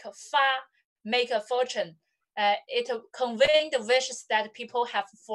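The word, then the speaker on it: 发: used by people as eight pronounces like fa, okay? How to say eight in Chinese? How to say eight in Chinese? Ba. Okay. And this ba. One, make fortune. The pronunciation is fa, very similar, right?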